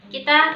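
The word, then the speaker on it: 木: Nah, kita ke kanji yang ketiga. Kanji yang ketiga itu ada kanjinya pohon. Ya, kanji pohon. Kanji pohon kalau dia berdiri sendiri dibaca ki.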